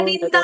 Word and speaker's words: निंदा: ठीक है, तुल्य निंदा स्तुतिर्मौनी निद्रा नहीं, द्रा नहीं, निंदा निंदा।